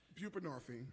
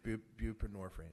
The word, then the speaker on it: Buprenorphine: pass, uh I'm not going to try to pronounce it. Bupinorphine. Buprenorphine.